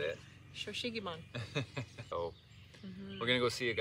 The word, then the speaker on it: Shou Sugi Ban: Shou Sugi Ban.